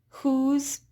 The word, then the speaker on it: whose: And then we also have words with the silent W, such as who, whose, whom. Right? It's that W is silent and it's the H sound that we hear.